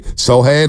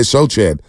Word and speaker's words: Sochan: Sohan. A lot of people say Sochan. Yesterday, what did I say? Champagne. So is it Sohan?